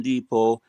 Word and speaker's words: Depot: Oh, the T is silent.